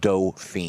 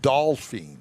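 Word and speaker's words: Dauphine: But it's a Dauphin. It's pronounced Dauphin. I know, but I like Dolphin.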